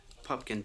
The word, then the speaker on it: Pupkin: Rupert Pumpkin. Rupert. Pupkin, P-U-P-K-I-N. People often misspell it and mispronounce it.